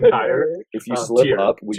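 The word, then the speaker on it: Týr: We're laughing because earlier I called it Tyre, and it was like a Freudian slip, and so now I'm having a hard time not saying Tyre instead of Tyr.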